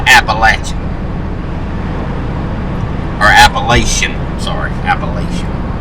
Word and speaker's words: Appalachian: for everybody who doesn't live here it's not appalachian it's appalachian and appalachian has said with hillbilly in it because 100 percent there's no such place on this earth that anybody who's from here called appalachian or appalachian sorry appalachian it's appalachian mountains but